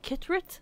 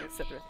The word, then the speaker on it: Cithryth: have C's in them, the C is pronounced like Sith, like the C-I.